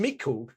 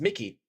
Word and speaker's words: Miku: So someone from training, most likely, like Red Mist Miku, which I mispronounced as Red Mist Mickey.